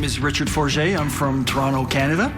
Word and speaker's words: Forget: My name is Richard Forget. I'm from Toronto, Canada. It could be pronounced Forget also, but I prefer the more pretentious version.